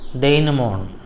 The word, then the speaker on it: denouement: So that's a French word. It is pronounced as denouement.